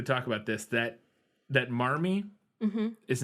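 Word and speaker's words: Marmee: non Ric which means they didn't pronounce ours yeah and so marmy would actually essentially be pronounced momy and that this is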